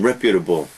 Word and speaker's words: reputable: Reputable, notice the pronunciation, reputable.